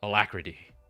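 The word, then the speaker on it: Alacritty: It's pronounced alacrity.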